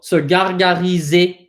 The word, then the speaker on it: gargariser: Anything that ends in an ER in French, like here, anything in ER that has an ER ending is pronounced E, right? So gargariser.